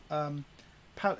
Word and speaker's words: Paolo: All the best from Paolo. You see, my English is terrible. I can't pronounce it. Well, it's Paolo. Just say Paolo.